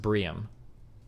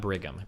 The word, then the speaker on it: Brigham: is a mormon school it's pronounced briam not brigham brian okay it's the premier